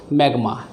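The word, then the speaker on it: smegma: S silent है, मैग्मा बोलते हैं।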